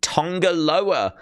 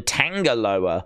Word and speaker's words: Tonga Loa: clearly they've decided to go with the Tonga Lowa spelling and pronunciation rather than Tanger lower so it's t n